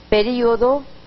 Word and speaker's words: período: Dice, ¿cuál es la pronunciación apropiada? Período o período o período. Este es un caso muy similar al de otros, muchos, como olimpiada u olimpiada, dínamo o dinamo, que pueden utilizarse en las dos son fácilmente utilizables.